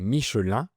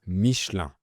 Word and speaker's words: Michelin: On dit “Michelin”, donc on ne prononce pas le N final. Le ‘I’ et le ‘N’ forment la voyelle nasale “in”, comme “un, deux, trois, etc.” Ce n’est pas Micheline, c’est Michelin.